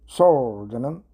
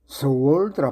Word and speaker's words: sword: Sword는 칼, 금을 말하죠. sword라 발음하는 사람이 의외로 많습니다. sword입니다.